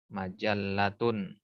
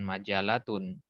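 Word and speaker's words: مَجَلَّةٌ: Al-majallat ini jamak dari kata majallatun. Perhatikan cara bacanya. Majallatun ada tasdid, ya. Ada tasdid di situ, maka jangan dibuang tasdidnya. Bukan majalatun. Majallatun, jamaknya majallatun.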